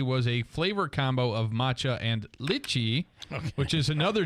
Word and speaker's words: matcha: so uh that is um I've written a pronouncer down so I don't screw it up now it's matcha green tea matcha latte Macha matcha man okay you could do it that